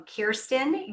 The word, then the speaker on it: Kjersten: Welcome, Kjersten.